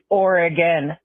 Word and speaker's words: Oregon: though for god's sake brian learn how to pronounce the state of oregon correctly it's oregon thanks guys so i mean overall i think